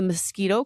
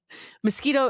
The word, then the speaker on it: Miskito: Mosquito is spelled Miskito. I'm sure there's different inflections there, but Right.